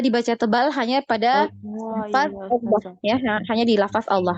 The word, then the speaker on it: Allah: Allah, wallah. Jadi bukan wawloh. Nah, biasa kan yang kebanyakan di masyarakat umum ya bacanya wawloh, Allah gitu ya. Karena mau menebalkan itu tadi. Jadi Allah ya, jadi seperti ada huruf waw.